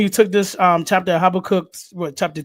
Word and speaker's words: Habakkuk: I think you took this chapter of Habakkuk, chapter 2?